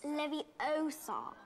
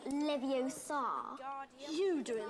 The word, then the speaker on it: Leviosa: you're saying it wrong it's leviosa not leviosa if you're so clever